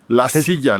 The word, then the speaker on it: La Silla: La Silla, like you just said the second time. It's La Silla. And it's named because it's in front of the big mountain called Cerro de la Silla in Monterrey.